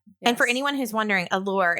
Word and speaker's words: ALLAUR: And for anyone who's wondering, Allore is spelled A L L A U R. So it's create. It's like Yeah. So it's the Alli and Laurel put together.